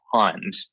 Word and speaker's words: Pond: single syllable word um when you say it you everybody really elongates and pauses on the o so it's hard to say the word quickly you have to say Pond um it's not quick